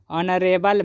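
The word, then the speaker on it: honorable: बाद अगला एग्जांपल है नरे बल मैन यहां पर पहला लेटर क्या है एच है और एच बोलने से कंसोनेंट लेटर है लेकिन उसका उच्चारण जो है स्वर जैसा हो रहा है नरे बल अ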